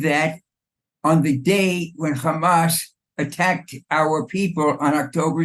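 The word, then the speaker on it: חמס: word for violence is Hamas it's not like changing the transliteration that's what the Hebrew it says and that's how you pronounce it it's the exact same sounding word now hamash for the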